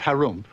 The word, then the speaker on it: Harum: in the land of Harum which is pronounced like when you clear your throat there lived an ogre